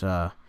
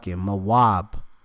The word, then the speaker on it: Moab: All right, when you go into it, Moab, how you of course pronounce it in the Hebrew. All right, because it's Ma'awab. All right, Mawab.